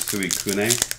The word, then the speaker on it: Suicune: So, Suicune V? Yeah. Okay. Is that how you pronounce it? If it's actually Japanese and it's the pure Japanese pronunciation, then it's Suikune.